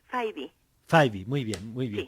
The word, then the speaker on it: Fyvie: El segundo apellido es Faibi.